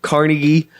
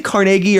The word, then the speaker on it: Carnegie: Do you say Carnegie or Carnegie? I say Carnegie. I don't know. I think Carnegie. The guy's name was Andrew Carnegie, but I've always heard that it's supposed to be pronounced Carnegie, but who knows?